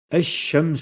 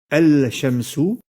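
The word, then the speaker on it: الشمس: pour dire le soleil on doit donc dire chems ou en remplaçant la prononciation de la lettre l'âme par le doublement de la laiterie chine on ne doit donc jamais dire el cham sous mais bien james hook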